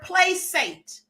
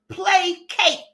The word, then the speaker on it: placate: She just said the word placate. The word is pronounced placate.